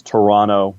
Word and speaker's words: Toronto: five years and so it's toronto that that second t is silent to me uh it's montreal and